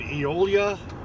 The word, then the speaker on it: Eolia: channel all right here i am down in eolia and this is how you say it e-o-l-i-a